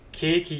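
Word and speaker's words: ケーキ: if I have something when saying keiki you would draw out the length of the K character for kohi you need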